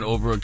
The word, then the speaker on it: Oprah: Remember when Oprah came out on her show and she had lost all that weight and she had it all in a wagon?